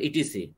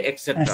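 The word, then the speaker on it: etc.: করেন এক্সেট্রা দিবেন আপনারা ইটিসি আপনারা কিন্তু ইটিসি বলেন এটা সঠিক উচ্চারণ হচ্ছে এক্সেট্রা এক্সেট্রা হুম শুভ এখন মনে করেন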